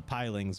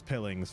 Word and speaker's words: pilings: messed up such as the word uh pilings which i was mispronouncing as pillings for maybe the first 10 episodes i don't know why